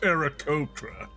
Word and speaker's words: Aarakocra: It's pronounced Aarakocra.